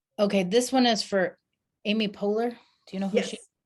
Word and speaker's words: Amy Poehler: i hope so okay this one is for amy poehler do you know who she yes did i